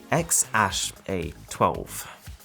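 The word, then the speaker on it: X Æ A-12: their favorite aircraft and it's pronounced X Ash A2 good for them or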